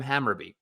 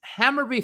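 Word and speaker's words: Hammarby: when Mr Greg be halter was fired from hamur it's hammerby fire Greg barh halter as manager citing team's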